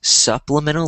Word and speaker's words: supplemental: Um, so it sounded like soup, but it's pronounced supplemental, like s, like supplemental. Supplemental.